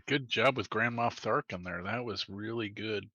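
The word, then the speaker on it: Tharchion: Yaz will say, thank you to, it's pronounced Tharkin? Tharkin. Tharkin, okay.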